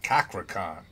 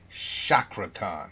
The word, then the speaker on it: Cakra Khan: We got a not Cakra Con, Chakra Con.